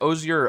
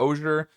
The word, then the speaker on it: osier: or oir depending on I've heard it pronounced both ways. Ozier or oer.